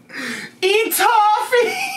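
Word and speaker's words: étouffée: Etouffee!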